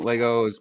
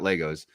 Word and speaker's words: Lego: never too old for Lego you're right about that I appreciate you uh what's up everyone just started doing Legos it's Lego not Legos um what I'm like